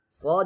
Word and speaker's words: صاد: صاد is pronounced like the sin but with a heavier sound, and in sin here the tongue is not touching the lower teeth, but in صاد here the tongue is touching the lower teeth, and this is a heavy letter.